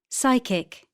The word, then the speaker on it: psychic: O O co-opt B silent letters the letters below in bold are silent in the examples P psychic psychiatry pneumatic receipt pseudonym psychology B comb dumb Numb to climb.